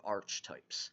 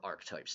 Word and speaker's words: archetypes: These are arch types or arc types, depending on how you like to pronounce it.